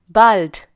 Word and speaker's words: bald: person once again biss bald this is commonly used amongst friends please remember here that bald has the sound of ah like hallo this shpeter once again